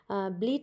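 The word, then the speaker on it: bleat: আমি দেখো তোমাদের নিচেতে এর উচ্চারণটি লিখেও দিয়েছি ব্লিড বার্নটাকে বাংলায় যাতে তোমাদের উচ্চারণ করতে সুবিধা হয় পরবর্তী দেখো তারপরেতে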